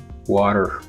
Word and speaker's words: water: is tapped so here because it is in a stressed syllable and it's in between two vowels the ta in this phonological environment would be tapped or flapped water butter bottle you see